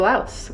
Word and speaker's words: Laos: which by the way i'm going to pronounce as laos i know there's some debate on that but um the best sources i could find said laos instead of lao when you're speaking english so i'm going to